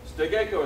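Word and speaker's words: 捨て稽古: level, not nagikomi, but Sutegaiku. Yeah, like Sute. Sutegaiku, yeah, Sutegaiku. I don't know how to pronounce it. Do you know how to pronounce it? Stegeko is how you pronounce it.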